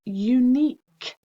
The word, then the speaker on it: unique: tired spelling 4 is unique unique so this is the k sound but we need to know that we can spell it q u e unique so it's uni